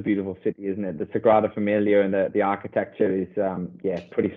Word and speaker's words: Sagrada Familia: the famous monuments and what's it called, the Familia Grada, if I've pronounced that correctly. You're Spanish. You're not your Spanish, but your Spanish is probably better than me. Sagrada Familia.